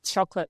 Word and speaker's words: chocolate: So, so what happened is we we took out the O vow. We take out that's like an O vowel. And when you take out a vowel, you take out a syllable. And so now instead of a three-cllable word, you have a twocllable word, which is easier.